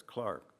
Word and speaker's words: clerk: yes sir you know it comes from the english word for clerk they still pronounce clerk there is Clark I simply nodded I